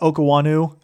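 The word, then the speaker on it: Okuayinonu: I guess that's actually how you pronounce his name from what I heard from Joe Buck. So, more vows in there than I expected, but Okuanu uh is is how you pronounce it.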